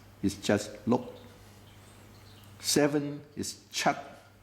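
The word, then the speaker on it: 七: just look seven is Chuck I cross out the T so that you don't pronounce the T H is part and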